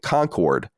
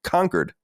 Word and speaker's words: Concord: they were calling it Concord but that doesn't mean that the word Concord doesn't exist it means that the city spelled Concord is pronounced conquered why doesn't anyone understand